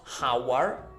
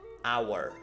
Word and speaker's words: hour: L sound at all an hour this is an irregular word because we have no aspiration of H sound okay so not how our but our half an hour so